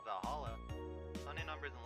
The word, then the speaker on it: VA-11 Hall-A: The name's silly and a bit hard to pronounce. Good thing it's actually called Valhalla.